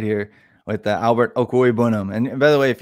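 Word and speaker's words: Okwuegbunam: go check that out if you're curious its oku a bounnam if you need to practice that in the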